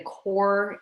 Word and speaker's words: corps: education core which is c-o-r-p-s dot org the the core the s is silent like uh the marine